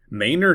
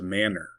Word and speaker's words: Manor: Manor, Texas. It is not pronounced Manor.